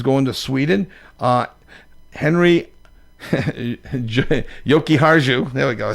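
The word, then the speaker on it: Jokiharju: Uh, Henry Yoki Haru, there we go.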